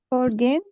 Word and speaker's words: foreign: Have you ever lived in a foreign country? Foreign. The G is silent.